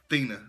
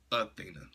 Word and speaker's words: Thena: It's Thena, not Athena.